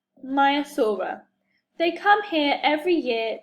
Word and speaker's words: Maiasaura: Maiasaura. Say Maiasaura.